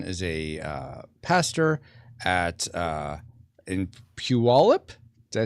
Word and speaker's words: Puyallup: And Dustin is a pastor at in Puyallup.